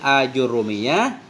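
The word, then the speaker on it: آجرومية: Dan sampai dalam sebahagian niskhah tulisannya itu limasailil ajrumiyah, fayuqra'u, maka dibacakan akan dianya ajrumiyah dengan fathah hamzah, hal keadaan hamzah yang mamdudah.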